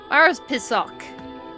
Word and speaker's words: Morepesok: I already forgot what it's supposed to be pronounced as. Morepesok.